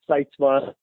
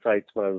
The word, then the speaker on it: Sytsma: Sytsma, Sytsma is the way I pronounce it, although I've been confronted by Dutch people that say, you're saying it wrong. But that's how we say it, so we're going to stick with it.